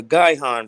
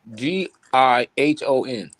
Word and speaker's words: Gihon: you can you type up the word uh guy han real quick let's spell it g-i-h-o-n and can you pull it up in the blue letter oh you talking about the gihon spring that's in israel by the way spring